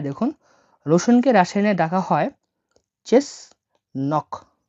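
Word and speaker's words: чеснок: কিভাবে ডাকা হয় দেখুন রসুনকে রাসায়নে ডাকা হয় চেস নক চেস নক হিসেবে চেস নক আমি ভেঙে দিচ্ছি দেখুন এই ওয়ার্ডটাকে এই উচ্চারণ হয় সি এইচ বা চ হিসেবে ঠিক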